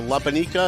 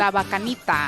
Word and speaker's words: Labanita: Uh Labanica, is that how you say it? Labanita. I love her, by the way.